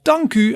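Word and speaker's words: dank u: side you see the word dank and you pronounce that as danku and on the right hand side you see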